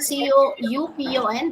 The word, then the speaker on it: coupon: C O U P O N. This is another We have various varants. Coupon. Coupon. Coupon. Yeah. The actual pronunciation is coupon. It's coupon.